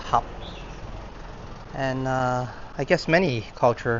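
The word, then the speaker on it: 合: In Cantonese it's pronounced hap.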